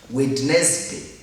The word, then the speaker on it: Wednesday: Hapa hatusemi, here we don't pronounce it as Wednesday. No. Wednesday. No. We say Wednesday.